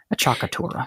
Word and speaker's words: appoggiatura: home who are wondering is spelled a cc I a cc a t u are a a chakura I think I was pronouncing it wrong because I was sort of blending it with aura and we're all hungry